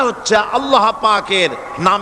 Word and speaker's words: আল্লাহ: আল্লাহ পাকের উচ্চারণটা হচ্ছে আল্লাহ পাকের নাম উচ্চারণ হচ্ছে আল্লাহ মুখটা একটু গোল হয়ে যাবে বলেন আল্লাহ আল্লাহ পৃথিবীতে